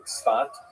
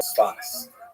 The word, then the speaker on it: Safed: northern Israel city of Safed, pronounced in Hebrew Tzfat or Sfas.